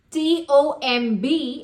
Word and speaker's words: tomb: is I went to the sa Jang tomb t o m b is pronounced as tomb you you know my friend